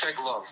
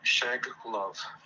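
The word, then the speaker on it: Shcheglov: I don't want to mess up your last name, my friend, but it's Sheglov. The CH is silent, so you just skip the CH and Sheglov.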